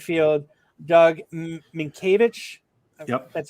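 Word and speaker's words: Mientkiewicz: played right field doug minkiewicz that's how you say his name that's how you say it it's spelt different than you say it just like mellow it's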